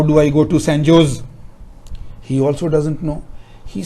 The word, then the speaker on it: San Jose: from long time ago, in Spanish, J is pronounced as H. We call it Julio, they will call it Julio. So therefore it was not San Jose, it was San Jose.